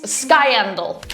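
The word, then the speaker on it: Skiendiel: I cannot pronounce names. I'm sorry. It's Skyendal.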